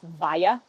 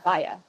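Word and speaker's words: Walla: I always try and tell people that my name is pronounced Vaya. W-A-L-L-A. Naturally, it's Vaya.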